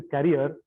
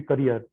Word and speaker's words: career: You were saying the carrier, it should be career.